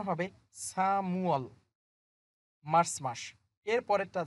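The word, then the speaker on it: 삼월: যদি মিউমটা ইউং এর স্থানে চলে যায়, এটার উচ্চারণ হবে সামুয়াল, মার্চ মাস।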